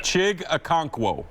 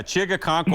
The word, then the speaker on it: Chig Okonkwo: Chig Okonkwo. Yeah, that diving catch he made on the left side. Yeah, Chig Okonkwo.